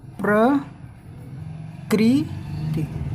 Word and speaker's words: प्रकृति: देख रहे हो आप, क के बाद ही इसका उच्चारण, मतलब इसका जो उच्चारण होता है वो जिस वर्ड पे लगा होता है उसके बाद ही इसका उच्चारण बोला जाता है। इस र को हम उसके बाद ही बोलते हैं।